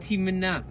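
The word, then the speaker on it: Timnah: timina yeah please notice I definitely pronounce it separately this is timina and Tim nai's identified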